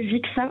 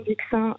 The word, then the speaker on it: Vik Sein: Il suffit de télécharger l'application Vixin. Alors, ça s'écrit VIK, hein ? C'est ça, VIK et Sein.